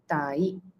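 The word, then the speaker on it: তাই: So Tai. When kids learn Bengali, this is how they spell it out. Tai, Tayakar, Rashoi. Tayakare ta, I, Rashoi.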